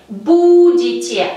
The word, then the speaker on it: будете: Будете. A nuestra raíz bud hay que añadir terminación yete y el acento sigue cayendo en la letra U.